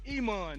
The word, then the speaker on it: Iman: The Iman, nigga. What the fuck? I know how to pronounce his name. Yeah, I-Man.